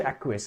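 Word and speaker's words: acquiesce: Okay, एक्वेस। एक्वेस, इसका pronunciation एक्वेस।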